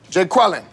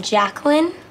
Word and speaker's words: Jacqueline: feel me okay let's take a roll here Jay quellin where's Jay quellinet no Jay quella here yeah uh do you mean Jacqueline okay so that's how it's gonna be y'all